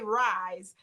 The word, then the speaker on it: R.I.S.E.: I say Rise is what I pronounce it as, but R.I.S.E is the acronym for it.